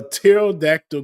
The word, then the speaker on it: pterodactyl: Why can't you hear a pterodactyl go to the bathroom? Why can't you hear a pterodactyl go to the bathroom? Because the P is silent.